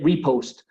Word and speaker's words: repost: Eh, eso sería un una acción de repost, pero también siempre el acento, perdón, la clava atónica la pongo en la primera parte, en el re.